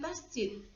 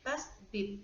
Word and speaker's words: tasydid: Kita perhatikan di atas huruf ta atau huruf syamsiyah terdapat tanda tasydid, ya, bukan tasjid tapi tasdid atau syaddah, sehingga membacanya adalah melebur ke dalam huruf syamsiyah.